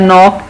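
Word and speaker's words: knock: तो हमने देखा कि वेन और नॉक में, वेन में एच और नॉक में के साइलेंट है।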